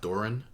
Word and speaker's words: Doran: I think Doran is his name, pronounced Doran.